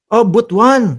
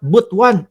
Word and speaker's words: Butuan: Oh Butwan ah ganun pala. Sabi ni ma'am Noen Cortz Gomez, "Boss Mark, clarification butuan is pronounced at botuan."